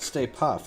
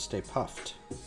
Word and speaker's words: Stay Puft: Not Stay Puff, it's Stay Puffed. A lot of people mispronounce that.